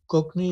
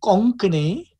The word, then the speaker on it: Konkani: So let me give you an example of what Konkani, as it's pronounced in Cape Town. Konkani is the way it's said. And we know that in India, the language is pronounced Konkani, except when we went to the villages of